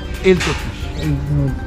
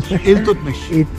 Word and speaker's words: Iltutmish: The full name is Shamshuddin Iltutmish. Okay. I don't pronounce that name. Iltutmish. Iltutmish. Iltutmish. Iltut. Okay. Tut for teeth.